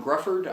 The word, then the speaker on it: Gruffudd: people complain about uh even Gruffudd I believe is the way you pronounce name spelling on that's ridiculous but the guy who plays mr.